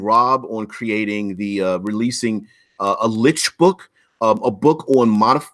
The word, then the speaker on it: lich: We can fight over pronunciations, and I'm sure there's a pronunciation guide that they're called licks, L-I-C-H, as opposed to lich with L-I-C-H.